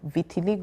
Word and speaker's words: Vitiligo: who have pches that condition is called Vitiligo or Vitiligo whichever you pronounce it oh so those